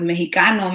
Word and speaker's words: Mexica: So it was like they couldn't pronounce the sh in Mexica, so they changed it to the he, Mexicano, instead of, you know, Mexica.